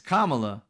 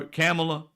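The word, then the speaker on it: Kamala: It's Kamla. But they say it wrong. Still people who will say, "Well, I didn't vote for Camela because of something and something."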